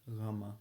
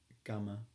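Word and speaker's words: γάμμα: in science um but you'll have noticed that I pronounced the first letter GMA not gamma because it's a soft spoken language another example is Kaa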